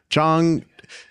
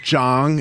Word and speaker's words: Chong: Chong is how you say it. It's not Jong. It's not Jang. It's not a J. It's a little harder. Chong.